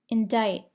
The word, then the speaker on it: indict: Do not pronounce the C in the following words: indict, muscle, scene, scent, scissors.